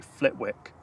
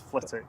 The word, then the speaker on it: Flitwick: a a W in had a wick at the end, but you don't pronounce the W. So, if you're not from the area, you'd always say Flitwick. It's Flitic.